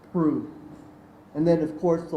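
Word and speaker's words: Proulx: Prue, spelled P-R-O-U-L-X, but pronounced Prue.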